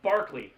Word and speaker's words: Berkeley: I forget his name, but he told me that Berkeley is not spelled Berkeley. It's pronounced Barkley.